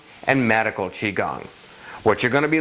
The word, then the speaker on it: Qigong: it is Beijing so what you may see written as key gong or chi khong has now been changed to reflect the more mainstream Chinese pronunciation which is Qigong ok so what can